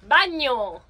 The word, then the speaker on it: bagno: Bagno. Bagno. Bagno. Just like Spanish? No, bagno. It's written differently, but it's this. Yeah, the pronunciation is the same.